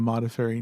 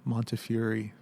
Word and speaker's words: Modafferi: on it, is that people would often mispronounce it. They would call him Montefiore. Montefiore. Yes, they were more familiar with that name. So it was often the case they would just not come out right.